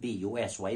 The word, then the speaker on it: busy: i z z y dizzy rhymes with b u s y busy which is absolutely absurd